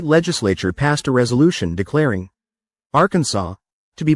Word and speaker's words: Arkansas: They transcribed it the only way they knew, adding their own grammar, spelling it Arkansas, and giving it a French pronunciation with a silent s.